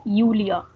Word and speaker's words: Julia: is julia schmidt so in german mostly whenever any name starts with j we pronounce it as year so we won't be calling her julia but we would be calling her yulia so hans and julia